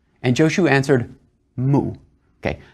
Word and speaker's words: mu: and Jo xu answered mu okay mu is the japanese pronunciation of a Chinese word that means nowhere it